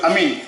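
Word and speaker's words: آمين: Nah, benar cara baca amin. Amin.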